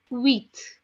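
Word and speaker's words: huit: as Seth Seth okay eight in French is being written down as h u i t which is being pronounced as wheat wheat okay which is being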